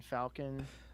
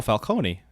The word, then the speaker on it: Falcone: turturro i i can't even remember how to pronounce his name as carmen falcon oh falcone yeah calling the crime boss i don't think